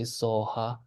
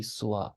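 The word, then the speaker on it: स्वाहा: The Tibetans say soha, but actually, if we pronounce it with Sanskrit accent, it should be swaha.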